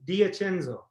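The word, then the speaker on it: D'Ascenzo: was good this enzo yeah that's fine d diacenzo can't get much more italian i once had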